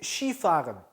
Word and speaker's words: Skifahren: 써있기는 스키라고 써놓고 쉬라고 읽어요. 그래서 Skifahren 이라고 하면 뭐냐면 스키를 타다라는 뜻이에요. 재밌죠 발음이? Mein Hobby ist Skifahren. 나는 스키 타는 게 내 취미야. Skifahren.